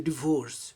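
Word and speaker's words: divorce: टू शायद DeVos paper इसे बहुत लोग डाइवोर्स का उच्चारण करता है लेकिन सही उच्चारण डिवोर्स डिवोर्स ही वास मेड टो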